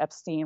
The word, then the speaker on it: Epstein: epine Brian changed it to Epstein when he was in the Army that's not